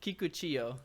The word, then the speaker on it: Kikuchiyo: Kikuchiyo, but I'm just gonna call him Kikuchi. Kiku because I'm not Kiku. gonna mispronounce it, That's and fair.